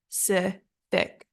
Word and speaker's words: specific: keep it together okay the correct pronunciation is specific specific and our stress is on the second syllable specific specific okay so focus on that s sound at the beginning and the sound at the end specific specific okay let's